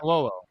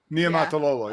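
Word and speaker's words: Niumatalolo: How did you pronounce But- the last name of the Navy coach? Ken. Oh, Ken Niamato. Niamatalolo. Niamatalolo, yeah.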